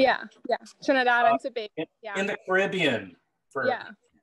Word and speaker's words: Tobago: Is that the right way to pronounce it? Tobago? Yeah, yeah, Trinidad and Tobago, yeah.